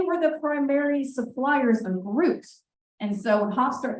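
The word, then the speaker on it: gruit: They were using something called Groot, which, yes, it sounds like the character Groot. It's fruit spelled with a G.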